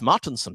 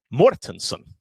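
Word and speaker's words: Mårtensson: No, Magnus's name is not Magnus Martinsson. Magnus's name is Magnus Mortensson because he has this Swedish letter with an A.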